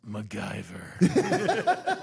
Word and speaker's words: MacGyver: It's MacGyver. Like Patty and Selma on The Simpsons.